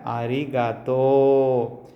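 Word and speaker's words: ありがとう: ஸோ இந்த தோ உ இருக்குது பார்த்தீங்களா, இதை வந்துட்டு எப்படி ப்ரொனவுன்ஸ் பண்ணணும்னா ஊங்கிறது ஈங்கிறதுலாம் எலாங்கேஷனுக்காக யூஸ் பண்ணிக்கலாம், ஓகேங்களா? ஸோ தோக்கு அப்புறம் ஊ வச்சுன்னா தோ, ஓகேங்களா? ஸோ நம்ம துணைக்காலுக்கு பதிலாக இப்படி ஊ போட்டுக்க வேண்டியதான், தோ, ஓகேங்களா? ஸோ இங்கே அரிகத்தோ.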